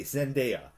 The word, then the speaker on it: Zendaya: How do you pronounce her name? Zendaya. I'm sorry. Who plays MJ in Spider-Man: Homecoming? Zendaya. Okay, Zendaya.